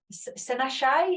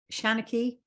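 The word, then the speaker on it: seanchaí: Senashai, is that how you pronounce it? Shanaki. Shanaki. Sorry, I tried.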